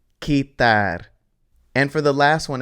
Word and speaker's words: quitar: So that means that the beginning part is pronounced ki. So this word is quitar.